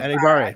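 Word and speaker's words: Enagbare: Most people pronounce his name correctly now, which I'm very happy about. Kingsley and Nagbara, people. Enigbara, Enigbare. not Enigbara.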